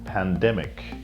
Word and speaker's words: pandemic: The first word that we want to speak about is pandemic. One more time, pandemic. The stress is on the second part.